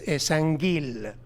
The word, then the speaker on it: Esangil: Actually, when we come to the pronunciation, we know now it's Esangil, the real Sumerian name, with Ng, Esangil.